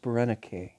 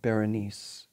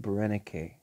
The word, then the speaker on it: Berenice: egypt now it's pronounced barenake um it looks like berenice in english or french and it may be pronounced as that but the greeks pronounce it brenneke now brenda k was